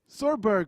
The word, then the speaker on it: chorb: So we will be heading over to the next couple of players, which are SAMURAIJACK and well, how's it pronounced? Chorberg.